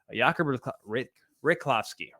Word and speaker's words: Riklovsky: Jakub Riklovsky. It sounds right. I like it. Riklovsky. Because it looks like Rychlovsky, but it's not. It's, I believe, in the Czech dialect, it's pronounced Riklovsky.